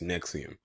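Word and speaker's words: NXIVM: sex organization called nexium I know I kept calling it NX I'm in XVI him or whatever I was calling it but it's actually pronounced next to him and while I'm first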